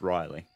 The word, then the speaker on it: Reilly: Thing, it's Reilly is the pronunciation.